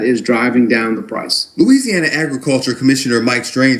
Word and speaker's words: Louisiana: I said Louisiana. But when you're from down there, they say Louisiana. They don't play. They say Louisiana with the L-O-O. They say it double up.